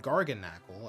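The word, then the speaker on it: Garganacl: Knackle stack and gar and garnacle as I recently learned it's pronounced.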